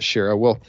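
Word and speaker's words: Shaara: There's a really good book where they talk about this called To the Last Man by Jeff Shara, or Shara. He pronounces it Shara.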